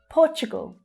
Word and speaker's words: Portugal: Portugal. So that's the O as in door sound in the first and stressed syllable. Portu. Portu. Portugal. Gul. That's an unstressed syllable at the end, very low in pitch.